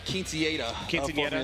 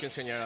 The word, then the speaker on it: quinceañera: Yeah, we would consider this the quinceañera of Formula Drift. Formula Drift quinceañera, that's right. You got to roll your R's better, Paco.